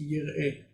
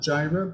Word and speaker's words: Jireh: Jireh means yireh. Yireh. Not Jireh, but yireh.